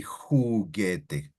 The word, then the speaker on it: juguete: You wouldn't say juguete, you would say juguete. Oh, you don't right? say juguete, right? So who. Think about like your H sound. Ge, because that's G, G. who, ge.